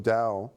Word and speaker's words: Tao: the words Dao um which is spelled Tao although it's pronounced Dao Dao and you take zen